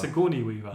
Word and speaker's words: Sigourney Weaver: It's Sigourney Weaver.